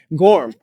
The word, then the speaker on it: Gorham: Gorham.